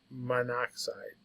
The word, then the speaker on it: monoxide: which we don't do that's why we Dro that o so it's monoxide so that the pronunciation is just better so Co is carbon